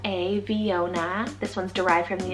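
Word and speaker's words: Veona: men viona spelt v e o n a viona this one's derived from the italian place name meaning true image delphia spell it d-e-l-p-h-i-a delphia this one's greek rooted meaning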